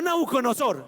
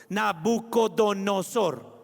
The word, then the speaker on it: Nabucodonosor: No, Nabuconosor, eso no. Así no se dice. No se dice Nabuconosor, eso no. Nuconodo. Nabucodonosor. Nabucodonó. Como donor.